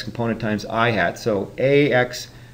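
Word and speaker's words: î: known as the vector I hat that symbol over the top of I is pronounced ihat and so ihat is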